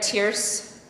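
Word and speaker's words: Tierce: who selected Meritt tearce it says here tearce rhymes with Fierce which is literally true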